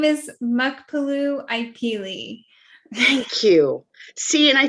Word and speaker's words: Muckapoo Ipeelie: goodness please help me okay my name is mukpalu ikeli thank you see and i totally got and